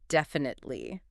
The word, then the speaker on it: definitely: Our fourth and final conversation helper for today is the powerful word "definitely." Let's practice the pronunciation because it can be tricky to spell and say, "def-in-tate-ly."